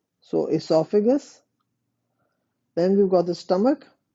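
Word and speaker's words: oesophagus: you've got the esophagus there is an o with it o e s o but you don't pronounce the O So esophagus then we've got the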